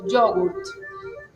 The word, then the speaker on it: yogurt: La Y, que es la Y o Y, entonces yogurt, nosotros decimos yogurt. En italiano sería acentuando el yo y acentuando la T, entonces sería yogurt.